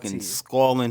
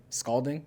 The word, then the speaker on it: scalding: it's scalling hot scalling yeah scolding scolding scalling scolding scolding hot scalding so we're both yeah sculling is like yeah oh me yelling at you yes you're right sking calling is nothing so I was just saying it wrong yes all right cool